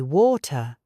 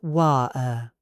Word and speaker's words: water: Say water, not wa-er.